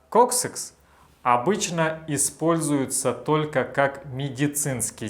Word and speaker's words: coccyx: Кстати, копчик в английском называется очень странным словом coccyx. Читается как .